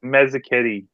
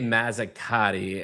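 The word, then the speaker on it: Mazzocchetti: Me Mazaketi. I was going to say Mazakati and I'm glad I asked you, but Mazakati, how the hell do you spell that, bro?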